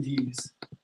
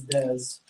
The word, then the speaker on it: Dez: No, they were saying D's, Okay. but it's Dez. Because it's spelled Dez.